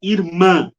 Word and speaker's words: irmã: vendo ó penúltima sílaba agora aqui ó irmã é a última sílaba mã é próximo próximo